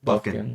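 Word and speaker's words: Bufkin: But I know it's pronounced Buffkin.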